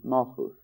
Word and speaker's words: Malkuth: And down, when we get down to what we call Malkuth, actually pronounced Malchus, the manifestation, really it's the flower of the tree.